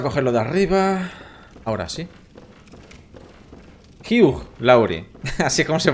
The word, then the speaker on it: Hugh Lowry: Hugh Lowry. Así es como se pronuncia.